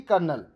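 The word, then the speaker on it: Colonel: ये स्पेलिंग ध्यान दीजिएगा लेफ्टिनेंट और कर्नल की स्पेलिंग य लिटनेट करके स्पेलिंग रहती है लेकिन लेफ्टिनेंट है इसका प्रोनंसिएशन य कॉलोनल यानी कि कर्नल तो इसका करेक्ट आंसर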